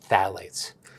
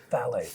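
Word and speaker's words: phthalates: And then the most important one I would say that everyone should know is called phalates. Phalates. Phalates. Spelled with a ph.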